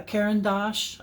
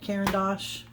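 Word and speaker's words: Caran d'Ache: water soluble crayons uh kendos I think is how you pronounce that kendos c c a r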